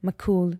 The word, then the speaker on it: Makoul: And you can find me, my main communication tool is IG, handle Lina with an I, Makoul, Makoul, because most people can't pronounce the kha.